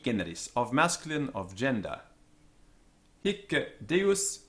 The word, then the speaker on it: hic: Note that hic is a heavy or tense syllable, and the Roman grammarians tell us that the C on the end was doubled, it's a double consonant. This has the effect of tensening up the vowel, making it into a heavy syllable.